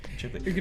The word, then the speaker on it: Ghibli: I'm gonna pronounce it differently every time I say Ghibli.